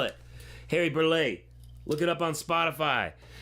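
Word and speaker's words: Burleigh: song this is Deep River uh by Harry burlay first African-American composer of course by that I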